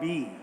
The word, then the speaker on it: BE: So let's first begin by talking about B. I just want to clarify again, it's spelled B-E, but the brand is pronounced B.